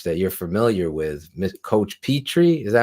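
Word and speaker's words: Pitre: running back coach that you're familiar with coach petry is that how you say his name yeah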